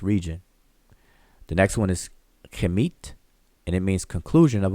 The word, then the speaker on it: Kemet: The next one is also transliterated as KMT, and we pronounce it as Kemet, but it doesn't mean the same thing.